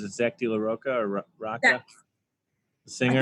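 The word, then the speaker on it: Rocha: laoka or Rocka singer I think like raqa I think I mean I don't know it sounds sexy either way like Roa or Raa yeah I think that's how you say it you gotta roll the r gota roll the R I will say this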